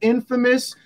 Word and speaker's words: infamous: point out the word Infamous the pronunciation is misleading folks because Infamous is simply in famous oh he's Infamous you